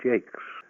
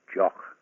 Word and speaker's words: Jacques: Hello, my name is Brian Jakes. When I go to America, people fondly call me Mr. Jacques or Jacques, or even people who think they can speak French say, hey, it's pronounced Jock. Down by the Mexican border, it sounds rather nice. It's Mr. Haquet. It's an old French name, Jakes, Jacqueus.